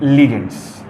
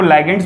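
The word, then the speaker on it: ligands: हम लोग बोलते हैं लिगेंड्स। ठीक है ना? कोई टीचर आपको लाइगेंड्स बोलता हुआ भी दिखेगा, तो जो आपके टीचर प्रोनाउंसिएट करते हो आप उसको उस हिसाब से समझ लो, पढ़ लो, कोई दिक्कत नहीं है।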